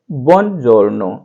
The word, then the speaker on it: buongiorno: अब इसमें बुओन हमने लिखा है, लेकिन ऐसे पूरा नहीं बोलना है, बुओन ऐसे नहीं बोलना है। इसको ओ है वो बोलना भी है, नहीं भी बोलना, यानी इतना फास्ट इसको लेंगे कि वो थोड़ा सा सुनाई भी दे और नहीं भी सुनाई दे, ऐसा हो जाए।